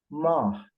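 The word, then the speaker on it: ماه: think about the word ma, that means moon in the sky. So that is ma. I don't say ma because ma means wind. So it means it's ma, and the he is clearly spoken.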